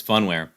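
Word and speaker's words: Phunware: whole thing off yeah i do say foon mere but fun wear could be it could be fun where i'll have to actually i'm curious um maybe there's a pronunciation online so let's see fun where fun we're you're right about that all right it's funware um so luckily general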